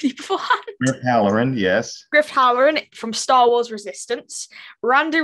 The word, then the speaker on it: Griff Halloran: Griff Halloran from Star Wars Resistance.